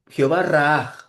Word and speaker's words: Jehová Raah: Jehová Raah, algo así se pronunciaría, porque tiene un doble A y una H al final, que significa Jehová es mi pastor, nada me faltará.